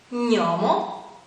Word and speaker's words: gnomo: Un altro suono difficile da pronunciare è quello formato dalle lettere G-N, che insieme si legge gn. Qualche esempio? Gnomo, gnocco, sogno.